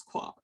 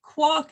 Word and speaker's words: quark: if any students ask about how do we pronounce quark so personally i look at this line i